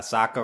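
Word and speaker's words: Sokka: addition I think uh Saka rhymes with AKA waka waka waka waka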